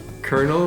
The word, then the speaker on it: colonel: for example the word kernel when used for the military in english is spelled c-o-l-o-n-e-l but you pronounce it with an r okay explain that one